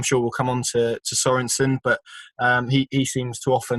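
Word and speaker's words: Sørensen: I mean, it's similar with Sorensen, isn't it? It's got the accent on the O, so I guess that's Sorensen in Danish terms.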